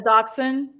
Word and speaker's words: dachshund: A dush hound? Dush hound. Okay. A dachshund?